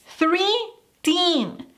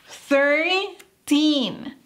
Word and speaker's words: thirteen: Porque no decimos three teen. Three teen, No. Veamos la forma correcta. Thirteen.